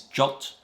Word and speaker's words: JWT: web tokens or jwt apparently the recommended pronunciation is jot but i'm going to stick with jwt jason web tokens last